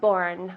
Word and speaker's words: born: When you were born with the N.